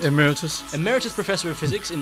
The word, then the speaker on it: Emeritus: names are John pilo from he is an aramus am I pronouncing that right Emeritus Emeritus professor of physics in mes University is